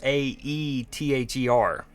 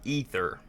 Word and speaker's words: Aether: Yeah, it's spelled Ae T H E R. So I want to say Aether, not Ether.